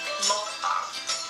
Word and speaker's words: mukbang: It's pronounced mukbang.